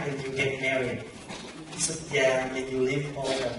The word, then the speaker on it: xuất gia: These two words spell the same, only difference one accent. Xuất gia with this accent on the top. Xuất gia no accent, but two different life.